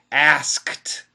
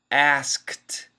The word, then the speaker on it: asked: D perfect pronunciation asked asked but if we say it fast we drop the K and we say asked I asked you a